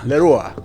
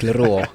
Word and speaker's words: Leruo: Leruo. Yeah. Am I pronouncing that correctly? Yes, that's correct. Leruo.